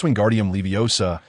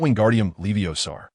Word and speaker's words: Wingardium Leviosa: It es Wingardium Leviosa, not Wingardium Leviosar. The pronunciation requires clarity and precision."